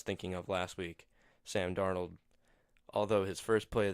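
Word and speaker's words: Darnold: and Matt Stafford on Monday Night Football Sam darn 'old yes I know I said it right this time Sam Donald not Josh Rosen that I was thinking of last week Sam darn 'old although his first play of the game was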